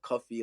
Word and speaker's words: Kofi: born on a Friday it spelled the Ganan way but pronounced the Jamaican way of cuffy like cuu ffy and then is